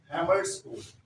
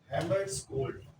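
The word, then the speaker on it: Hammarskjöld: हैमर्सकोल्ड, यहाँ पे जे भी है, वजह साइलेंट, हैमर्सकोल्ड।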